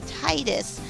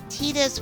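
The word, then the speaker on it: Tidus: I first played this I used to pronounce his name Titus I mean I was thinking more like tidal wave but I think um according to what I was seeing from the fans um tetus was actually more like um he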